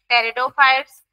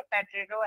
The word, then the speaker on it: टेरिडोफाइट्स: हो गया bryophytes, then टेरिडोफाइट्स and gymnosperms and angiosperm, ठीक है, आपकी साइलेंट रहता है, टेरिडोफाइट्स बोलते हैं उसको, ठीक है, पेट्रिडो ऐसे मत करना, ठीक है, उसको टेरिडोफाइट्स बोलते हैं।